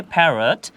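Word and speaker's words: parrot: দেখি যেখানে বলা হয়েছে প্যারেট প্যারাট যার অর্থ তোতা পাখি বা টিয়া পাখি এখানেও কিন্তু আর দুটো আছে কিন্তু আমরা যখন উচ্চারণ করছি তখন আমরা একটি আর ব্যবহার করছি একটি র সাউন্ড ব্যবহার করছি যদি আমি বাংলা উচ্চারণের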